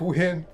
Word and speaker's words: Wynn: Lake Wynn. It's spelled W-Y-N-N, but it's still Lake Wynn.